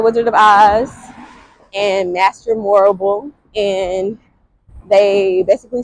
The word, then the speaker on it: Morrible: Uh, it rhymes with horrible, Morrible, Miss Master Morrible, but she definitely wasn't going for what they wanted her to go for.